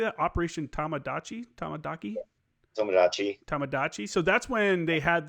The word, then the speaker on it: Tomodachi: Tamadachi.